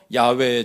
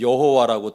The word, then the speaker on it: 야훼: 그 인물을 가리켜 야훼의 종, 하나님의 종이라 하신 것입니다. 자, 오해에 대한 설명 이 정도 하고 이제 이사야 본문 속으로 들어가 보겠습니다. 이사야 42장 전체는 야훼, 그러니까 우리가 예전에 여호와라고 틀리게 발음하던 우리 하나님의 이름인데, 그